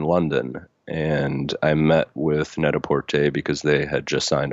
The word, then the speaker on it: Net-a-Porter: oh yeah it's um it's actually I that's how I pronounced it first - but it's pronounced very sophisticated ly Netta port a I don't I don't I don't mean to call you out because I said the exact same it's our that's our American version of a net-a-porter version